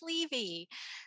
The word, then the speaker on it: Levy: absolutely my pleasure and I realize I mispronounced your name it's Levy so that's okay my